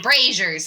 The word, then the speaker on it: braziers: rers brazers that's a different thing rers brazers brazers that's how it's pronounced brazers that they're like they're the wood